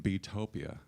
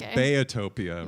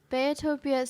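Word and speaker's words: Beatopia: an apology I've been calling your latest album betopia but I understand it's bayotopia right okay tell me about the pronunciation and why I was messing it up bayotopia so it's because my parents call me Bayer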